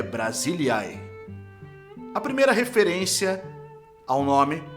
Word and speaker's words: Brasília: que quer dizer região a pronúncia correta é Brasilia a primeira referência ao